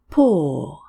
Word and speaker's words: poor: Pore. P-O-U-R. How do you pronounce this word? Pore. P-O-R-E. How do you pronounce this word? Pore. Four different spellings, but the same sound.